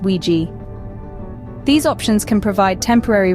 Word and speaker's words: WG: apartments or shared Apartments also known as wgs pronounced wi these options can provide